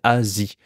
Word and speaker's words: Asie: ici c'est Europe ok Asie Asia en anglais tout à fait différent Asia et ici c'est Asie donc des fois même s'il